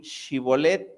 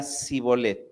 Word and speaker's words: Shibolet: Entonces le decían, "Ahora pues, di Shibolet." Y él decía, "Síbolet, porque no podían pronunciar de aquella suerte."